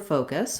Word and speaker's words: focus: at the word focus we have first syllable stress so the faux syllable is long and the cuss syllable is short and reduced and in this case the faux syllable is extra long because in american english the sound o the vowel sound is a diphthong so you can see